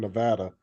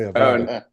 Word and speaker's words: Nevada: Yeah, Um, and it sounded like he was saying Nevada. He would say Avada.